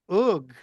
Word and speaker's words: Og: Um, so understand that Ug is how you would pronounce Og originally.